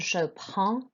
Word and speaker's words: prends: You pronounce the D and S. It's the vowel sound, je prends.